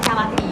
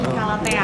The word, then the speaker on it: Calatea: Sebenarnya tuh pronunciasinya bukan Calati, tapi Calatea.